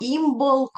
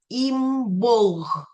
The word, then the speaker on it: Імболк: Імболк вимовляється як імболг або імболк.